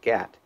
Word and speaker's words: GAHT: These are often referred to as GHX or GHT pronounced GAT uh groundto-air heat exchangers.